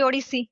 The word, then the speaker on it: Odissi: I think you gave a lot of information about dance and Odyssey dance. Am I pronouncing this correctly? Yes. Yes, absolutely. Odyssey.